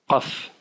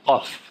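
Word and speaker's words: قاف: Sa sœur jumelle qui est le Qa, Qaf, qui est un peu dur à prononcer pour les francophones, le Qaf.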